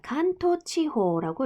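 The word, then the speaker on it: 関東地方: 자, 간토치호라고 읽어요.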